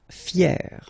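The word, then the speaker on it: fière: Fier, fier. So you write them differently, but then phonetically it's exactly the same.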